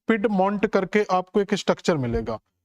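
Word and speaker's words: Piedmont: आपको मिलता है जिसका नाम आप देखोगे तो पिड मंट करके आपको एक स्ट्रक्चर मिलेगा तो अपलेसियन पर्वत के बिल्कुल दक्षिणी हिस्से पर जाओगे तो पेड मंट करके आपको एक स्ट्रक्चर मिले जाएगा पिड मंट भी बोल देते हैं इसको पिड मंट तो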